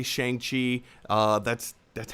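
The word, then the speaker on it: Shang-Chi: official answer is even though it's spelled s-h-a-n-g pronounced shang chi and i'll be honest uh it's this is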